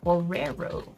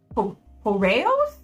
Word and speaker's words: Horos: Heros. Whoa, that's not how that's spelled. Horos. I was putting an extra letter in there.